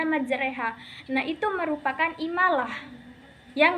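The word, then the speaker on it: مجراها: biasanya pada ayat tersebut tulisan ayatnya itu dibacanya majroha tapi dibaca majreha.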